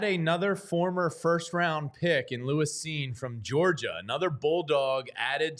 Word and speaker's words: Lewis Cine: You know college football when you say Lewis Cine instead of Lewis Cine, right? Because some people see C-I-N-E and they won't say Cine.